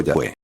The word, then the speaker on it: Yahweh: del sagrado nombre IU debe ser pronunciado Yahweé. La pronunciación Jehová fue desconocida en los antiguos círculos judíos y está basada en